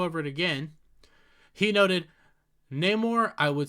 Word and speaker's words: Namor: the word instead of how it is traditionally pronounced as Neymar it's Namor he is Namor but he well no he's